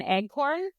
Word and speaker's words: eggcorn: It's actually called an eggcorn. Eggcorn? An eggcorn, which is like a mispronounced version of acorn.